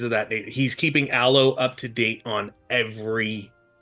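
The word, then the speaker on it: Allo: now we'll we'll say his name is uh alo alo okay a l l o uh Ario will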